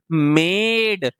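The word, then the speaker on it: made: तो क्या बन गया? म एड म ए ड मेड ई क्या हो गया? साइलेंट हो गया।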